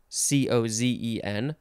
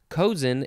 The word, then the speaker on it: cozen: out of a dollar cosin spelled c-o-z-e-n like dozen but i think it's pronounced cozen kozen implies artful persuading or